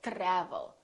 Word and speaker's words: travel: say try try so the T are together make this sound almost like a CHR almost like but it's a softer one it's to try try so let's look at some words that are spelled with tr try travel we don't say travel or travel we say travel tradition tradition let's try